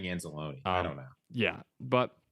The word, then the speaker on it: Anzalone: he was amazing um I always say anzelone I think it's anzelone is the correct pronunciation I don't know why I've always saying anzalone I don't know yeah